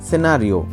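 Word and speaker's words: scenario: অর্থ হচ্ছে দৃশ্য বা ঘটনা নেক্সট ওয়ার্ড আছে সিনারিও সিনারিও সিনারিও হচ্ছে সি এখানেও সাইলেন্ট এর অর্থ হচ্ছে পরিস্থিতি বা কোন একটা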